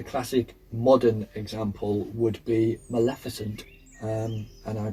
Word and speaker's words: Maleficent: Um, the classic modern example would be Maleficent, um, and I pronounced it right that time.